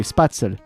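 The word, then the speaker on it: Spätzle: Oh, it's spatzel. Sorry. Spatzel. Not spare, but Spatzel or Spatzel.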